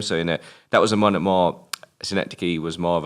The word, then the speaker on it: Synecdoche: And again, this is sometimes I get a bit of this from the interviews, where, for example, how do you pronounce it again? New York? Synecdoche, New York.